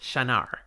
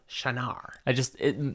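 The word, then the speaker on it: Shienar: So you are actually correct. Shanar. It just... And the shy, you said, that's correct, but the emphasis is on the second syllable. So, Shanar.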